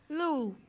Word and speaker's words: loup: Loup, that means wolf. P is silent.